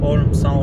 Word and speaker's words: Holmsá: Always a river in Icelandic is just one word, one letter, A, but you pronounce Á, like long vowel Á, and there's a river, Holmsá River.